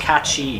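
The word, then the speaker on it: Cait Sith: Kate Sith is a real Sith Lord, I hope not.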